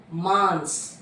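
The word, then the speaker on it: मांस: மாஸ்னா month. மான்ஸ். இங்க வந்து டாட் வந்திருக்கு பிகாஸ் ஆஃப் ச, அப்போ மான்ஸ். மான்ஸ் அப்படின்னா மீட்.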